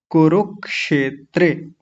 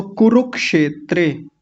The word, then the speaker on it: कुरुक्षेत्रे: और देखिए क पर छोटे ऊ की मात्रा है और र पर भी बड़े उ क्षमा कीजिए। क पर भी छोटे ऊ की मात्रा है और र पर भी छोटे ऊ की मात्रा है। दोनों पर एक ही मात्राएं हैं ये। तो कुरुक्षेत्रे जल्दी बोला जाएगा। छोटे ऊ की मात्रा जल्दी बोली जाती है।